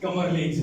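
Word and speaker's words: Kamerlingh: Spelling देख लो भाई, KARLINGH। क्या बात है जी। हाँ, कमरलिंग।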